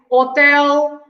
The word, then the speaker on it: hotel: start with the age we don't pronounce the h at the beginning of the word so we say hotel hospital right so we don't